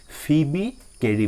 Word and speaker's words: Phoebe Cary: কবি হৈছে ফিবি কেৰি ইয়াতে PHOEBE এটো O টু যে এটো সাইলেন্ট লেটাৰ হয় গতিকে এটো ফিবি কেৰি বুলি পঢ়ে ঠিক আছে এতিয়া চাবা